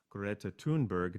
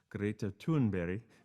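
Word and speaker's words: Greta Thunberg: young 15 year old girl in 2018 named greta tunberg now that's how we would pronounce it she's from sweden and the correct pronunciation of her name is greta tunberry that's my best swedish that's the best i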